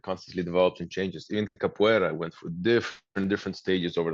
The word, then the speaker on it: capoeira: I knew the word cappuccino is actually, that's how I made the association, and that's how I was able to remember. That's right, But Victorious cappuccino, capoeira, that's how you say it.